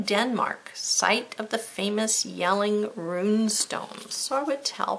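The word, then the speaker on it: Jelling: not one over yelling it's not a J sound it's pronounced yelling a location in Denmark site of the famous yelling room stones I would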